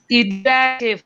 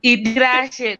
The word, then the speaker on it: Idirashe: It's Idirashe from Chokadi Chaishe, the Idi, the truth. God, yes. So it's Idirashe Dongo.